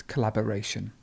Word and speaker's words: collaboration: have collaboration collaboration so the stress would be here so it's collaboration wonderful to collapse to